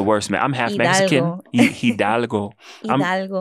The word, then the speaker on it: Hidalgo: Hidalgo. Hidalgo.